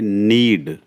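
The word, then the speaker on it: knead: इसमें के साइलेंट है। इसमें पढ़ेंगे हम एन ई ए डी के साइलेंट तो रहेगा यह नीड यस ध्यान रखना इसका केस में साइलेंट है।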